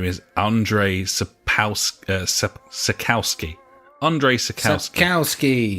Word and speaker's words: Andrzej Sapkowski: Andres spouse circle ski Andrzej Sapkowski there's lots of other letters in there that I'm reliably informed to you don't pronounce so his name is Andre sakowski he is trying to